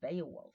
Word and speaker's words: Beowulf: Yes, I always want to check the pronunciation. Beowulf, right?